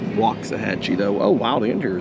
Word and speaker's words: Waxahachie: I think it's properly pronounced Waxahachie though.